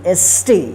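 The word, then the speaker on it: stay: ठीक है, क्या रूल है कि जब ए के बाद वाई रहे या आई रहे, दोनों में से कोई एक रहे, तो इस ए का ए उच्चारण होगा।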